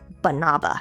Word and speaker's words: banaba: And finally, we have supplement number five, banava leaf. No, not banana, bananaba. It's spelled B A N A B A.